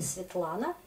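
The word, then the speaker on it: Светлана: Vous entendez Svetlana. En russe, c'est Svetlana.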